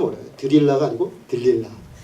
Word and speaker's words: 들릴라: 우리가 어 성탄절이 되면 많은 영화로 보는 삼손과 드릴라 그죠이 발음이 좀 어려워요 들릴라가 아니고 들릴라 그 삼손과 들릴라의 아름다운 사랑 이야기